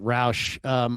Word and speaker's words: Roush: I pronounce it Roush.